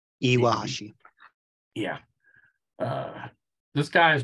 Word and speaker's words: Iwahashi: um okay who's this guy zenie didn't you pronounce that first name for me iwahashi iwahashi yeah uh this guy is born inaka also